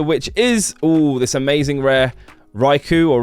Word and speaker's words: Raikou: Up next is this card right here, which is this amazing rare Raikou, or Raikou, some people pronounce it.